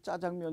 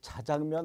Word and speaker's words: 짜장면: 대로 적어봤습니다 짜장면 o 왜 손님 짜장면 이라고 발음 하십니까 이거 자장면 아닌가요 라고 하는 지금부터 나올 수 있겠네요 근데 이것은 2011년 8월 31일 프로 새로 표준으로 제정된 것입니다 그래서 자장면도 되고 짜장면도 되고 복수 표준어가 된 것이니까 앞으로 짜장면 이라고 부르면